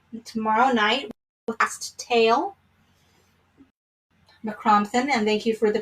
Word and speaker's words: Mac Criomthann: So we'll finish off the book tomorrow night with Last Tale, McCrompton, and thank you for the pronunciation once again, G.R. Grove. And we'll start out tomorrow night with McCrompton and the Cave of the Cats.